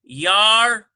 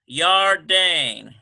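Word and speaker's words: ירדן: And we have Yardane. Yardane. Like the Jordan River, Yardane.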